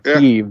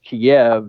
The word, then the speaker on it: Kyiv: up in Kiev or Kyiv. That's what the new word is. The new speak is Kyiv because Kiev is the Russian pronunciation, and we're supposed to hate them now.